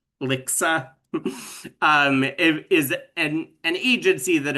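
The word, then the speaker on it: LHCSA: acronym stands for, but it is pronounced LICSA.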